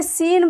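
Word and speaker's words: س: ज और ये जे इसे सीन बोलते हैं सीन बोलते सीन है लेकिन उच्चारण स होता है इसे छोटी सीन भी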